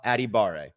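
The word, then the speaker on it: Adebawore: Adetomiwa, Adebaware. I'm going to get out the actual pronunciation guide. Is it Adebaware? I believe so. I can tell you for sure it is Adetomiwa Adibare. Yes, Adibare.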